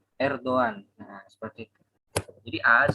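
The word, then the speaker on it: Erdoğan: Ya, Erdogan mungkin tulisannya Erdogan kalau orang-orang awam, tapi sebenarnya dalam bahasa Turki itu dibaca Erdogan.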